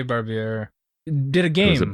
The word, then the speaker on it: Barbier: Barbier did a game. Was it Barbie?